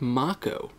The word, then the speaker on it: Mako: mako reactors are actually pronounced mako because it's japanese and that saying of